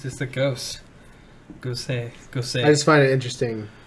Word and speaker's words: Gose: So I feel like It's Gosa. Gosa? Gosa, which I mean, it's actually just says ghost, but Okay. Gosa is actually the pronunciation.